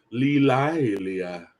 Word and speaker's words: Lilia: Lilia. It's 2 syllables.